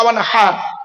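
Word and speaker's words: وانحر: লিরাব্বিকা ওয়ানহার, ফাসাল্লি লিরাব্বিকা ওয়ানহার। এই গলার ভেতর থেকে এটা উচ্চারণ করবেন। মা বোনেরা বাবাজিরা মুরব্বীরা শুনে নিন, ফাসাল্লি লিরাব্বিকা ওয়ানহার, এই গলার ভেতর থেকে এটা উচ্চারণ করবে। হাই হুতি, হাই হাওয়াজ নয়।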